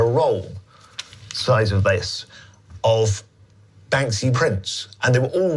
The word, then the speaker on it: Banksy: I do mispronounce it sometimes. I I do add a extra K in there. Bank C. Banksy.